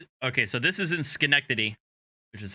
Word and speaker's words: Schenectady: um okay so this is in schenectady which is how that's pronounced um and she's demanding to go to